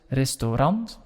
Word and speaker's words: restaurant: you can see that the word is written exactly the same as in english but we say it a bit differently we say hut restaurant and then if you